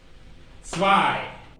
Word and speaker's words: zwei: When you come across Z, pronounce it TS. And V, W, pronounce it V. And then the EI flows.